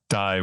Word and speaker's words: Dai: probably find me uh so die is a Welsh name Dai uh my last